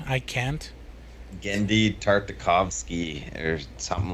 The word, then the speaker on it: Tartakovsky: Again, it's spelled it's like Gendy or Gennedy, and then I thought it was just Tarkovsky, but it's Tarta. Tartakovsky, yeah.